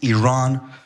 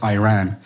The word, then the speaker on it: Iran: this we're pronouncing our country's name wrong our country is named Iran not Iran please once and for all let's get this